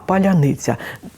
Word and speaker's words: паляниця: не документом а паляниця ті російськомовні які живуть в Україні вони і неправильно Але наближено правильно вимовлять ті хто прийшли до нас це слово ніколи не скажуть тому що ц ця у них просто не існує ви бачите маркером стало